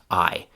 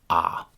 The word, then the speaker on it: I: pronunciations of the word I. So we have the classic classroom pronunciation I and we also have a chewing gum pronunciation ah.